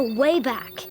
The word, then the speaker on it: WABAC: Wayback is an acronym for Wormhole Activation and Bridging Automatic Computer, but WABAC really looks like it should be pronounced Wabak. If nothing else, be consistent with the A sound and call it Waybake, as in, I'd have